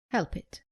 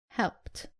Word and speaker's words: helped: Common mistake, saying help it. It is helped.